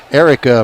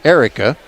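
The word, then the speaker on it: Aireka: But she spells her name A-I-R, as in air, right, and then E-K-A. So I'm guessing that's Erica, and Burke is her last name.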